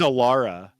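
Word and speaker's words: Elara: Sorry, it's Aara. I got the name wrong, but it's Yeah.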